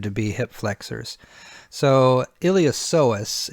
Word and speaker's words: iliopsoas: be hip flexors so iliopsoas is usually how you hear that pronounced although I have heard professionals say iliopsolus where they hit that P hard I'm guessing it's potato